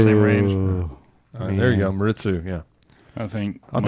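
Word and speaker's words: Maredsous: This is, how do you say it's Maritzu? Maritzu.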